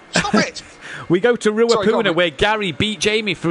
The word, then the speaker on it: Ruapuna: How's it pronounced? Ruapuna Park. Ruapuna, yeah.